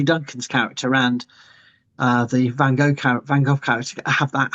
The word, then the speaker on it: Van Gogh: that you I I like that you said Van Gogh because that is the correct pronunciation no matter what your British but it's